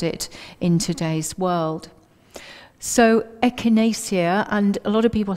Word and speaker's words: echinacea: in today's world so echinacea and a lot of people have problems pronouncing it so if you break it down to ech in a seer it's easier and there are two